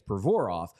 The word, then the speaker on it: Provorov: players, where like Provorov, the way you're supposed to say his name is Provorov, but when he's been here since he was 16.